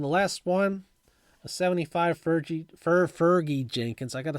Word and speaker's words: Fergie: my whole life and I don't know why I'm all of a sudden making my g a soft G instead of a hard G at this point in